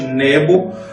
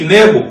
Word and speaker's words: Nebo: Outro monte, agora o Monte Nebo, ou Nebo, como alguns pronunciam, foi o lugar onde Moisés avistou a